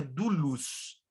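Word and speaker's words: δοῦλος: luz ou do luz se escreve dolos mas se pronuncia do luz a expressão literal desta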